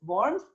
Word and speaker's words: Worms: and then borns so it's spelt like worms w-o-r-n-s but it's worms and mines m-a-i-n-dead so